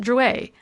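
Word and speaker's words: Drouet: his name it's pronounced Druer our family was French on my father's side she looked at it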